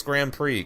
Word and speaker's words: Grand Prix: forgetting that I it's Grand Prix could the X is silent but funny my my